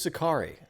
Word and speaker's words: Sacari: So Sacari, is that pronounced correctly here? You're also Sacari, yes.